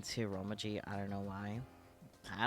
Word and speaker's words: Romaji: I just realized you put Romanji. It's Romaji. You know, without the N.